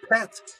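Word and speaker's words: pt: The word for heaven is pronounced pet.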